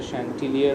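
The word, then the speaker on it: chanticleer: সাথে সাক্ষাৎ হয় শ্যান্টিলিয়ার, প্রোনাউন্সিয়েশনটা শ্যান্টিলিয়ার হবে, যার মিনিং রুস্টার, এক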